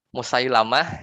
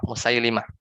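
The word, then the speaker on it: مسيلمة: yang mengikuti mereka ya Sebagian ulama bilang terkait nama orang ini ya Barang siapa yang mengatakan e apa namanya siapa yang menyebut namaNya Musailamah ya maka dia lebih lebih Kab daripada musailimah jadi jangan sampai salah yang benar itu ah lamnya musailimah Nah diemukan percobaannya ya bikin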